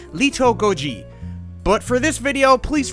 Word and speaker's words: Little Goji: And I'm not good with pronouncing Japanese, but a more correct way to say his name would be Lito Goji.